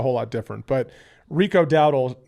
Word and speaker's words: Dowdle: Rico Dowdle, is that how you say his name? Yeah.